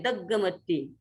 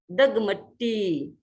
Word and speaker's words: दगमट्टी: कई बार लोग ग को यहाँ दो बोल देते हैं, दग्गमट्टी, दग्गमट्टी नहीं, दगमट्टी, दगमट्टी।